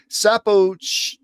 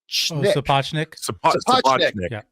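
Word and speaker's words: Sapochnik: Sappo Sapachnik I always mispronounced his name.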